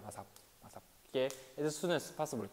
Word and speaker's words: ASAP: 그리고 얘는 원래는 ASAP라고 부르는데 우리나라에서는 그냥 아삽이라고 불러요. 아삽.